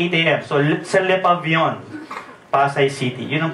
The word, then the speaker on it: Le Pavillon: So, sa Le Pavillon, Pasay City. Yun ang pronunciation niya na.